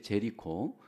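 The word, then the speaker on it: Jericho: 여리고라고 하는 지역은 한국식 발음이고, 미국에서는 우리가 살고 있는 이 사이어스 근처의 제리코, 이것이 바로 여리고입니다.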